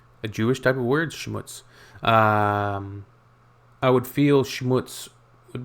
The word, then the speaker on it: Schmutz: This one is pronounced and used the same way in both languages, and it means dirt.